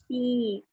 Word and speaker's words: beat: Ini Beat. beat. Lihat ya, E A, E A, E A, E A, E A. Ini makanya jadi I panjang biasanya.